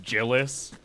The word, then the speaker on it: Gillis: Jill no his name it's pronounced jillis like the comedian G Gillies Gillis um